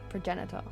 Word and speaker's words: progenitor: What the Is that a hard G or a soft G?